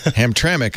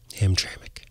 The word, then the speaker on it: Hamtramck: yeah ignore that E Yeah ignore the E is silent or something Hamtramck I did know that one uh that sounds